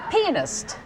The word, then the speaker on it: pianist: the book the okay the emphasis is on the first syllable pianist like someone who plays a piano well then it doesn't